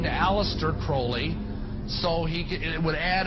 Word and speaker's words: Crowley: bring have his name pronounced crowley to rhyme with holy and uh the satanists